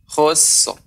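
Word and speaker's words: خسر: Jadi kalau pengucapannya lafi khusr juga kurang tepat, maka dia telah membuang ra ya, maka harus diberikan haknya khusr.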